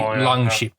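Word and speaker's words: langskip: it is swedish um sk is pronounced like a sh so it's even norwegian it would be long sheep then yep yeah sk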